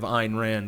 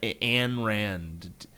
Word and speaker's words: Ayn Rand: So the exact opposite of what narrative Ayn Rand was pushing is true. And by the way, I hate when people fucking call her Anne Rand. If you can't figure out that it's not pronounced Anne, you're a fucking idiot.